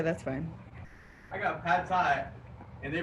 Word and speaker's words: Thai: I got pad thai, and they pronounce it pad thigh.